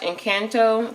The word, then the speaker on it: Encanto: out of our family fun envelope we watched encanto that's how you say it that was pretty